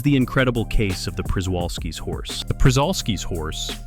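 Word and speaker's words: Przewalski: This is the incredible case of the Prisolski's horse. The Prisolski's horse, pronounced shubalsski, isn't just any horse.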